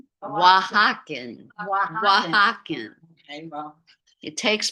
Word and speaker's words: Oaxacan: How are we pronouncing that? Osakan? Oaxacan.